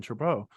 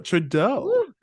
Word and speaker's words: Trudeau: minister of Canada Justin tribeau oh I said his last name wrong say it again that's a true bow uh Trudeau um it was nice